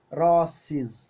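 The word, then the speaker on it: roses: ഞാൻ ഇവിടെ പറയാൻ പോകുന്നത് റോസിസ് റോസിസ് കണ്ടോ റോസസ് നമ്മൾ സാധാരണ പറയുന്ന റോസ് പൂക്കൾ അല്ലേ അത് പ്ലൂറൽ വരുന്ന സമയത്ത് സിസ് സൗണ്ടിന് സസ് ഉച്ചാരണമാണ് ഉണ്ടാവുക റോസിസ് റോസിസ് കേട്ടോ ഇനി നോക്കൂ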